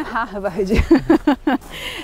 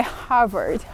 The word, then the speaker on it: Harvard: Aliás, a pronúncia não é Harvard, é Harvard, Harvard, o R vai lá pra cima, né.